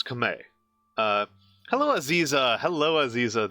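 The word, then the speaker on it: Khmer: Uh, but you don't drop you don't pronounce the R. It's Kame.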